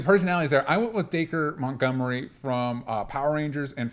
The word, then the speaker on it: Dacre: I think it's Dacre. It's Acre with a D on it, so that's how I'm pronouncing it.